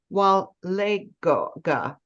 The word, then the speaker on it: Walega: Cowa so our special guest today is Larissa Wale Gaga pronounce it for me again Larissa Clarissa walega it